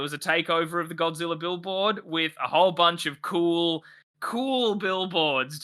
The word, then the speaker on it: Gojira: billboard referred to as Godzilla. That's amazing. It's actually pronounced Gojira. I don't think in the American English. That's pretty probably sure. a bit dicey. Pretty sure it's Gojira.